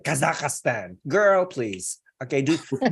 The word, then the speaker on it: Kazakhstan: the same error in mispronouncing uh Kazakhstan she did Kazakhstan they're like four syllables instead of three syllables only like Kazakhstan girl please okay do